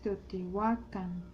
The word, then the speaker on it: Teotihuacán: Por eso es mexica, por eso es Teotihuacán, por eso es Quetzalcóatl, Anáhuac. Todas las palabras en náhuatl son graves, el acento va en la penúltima sílaba.